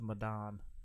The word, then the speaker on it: Medan: Man of Medan.